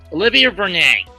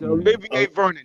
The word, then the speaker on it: Olivier Vernon: Olivia Vernon, or however it's pronounced. It's Olivier Vernon. Wrong. You Olivia. More pronunciation. You're like, Olivier Vernon is correct.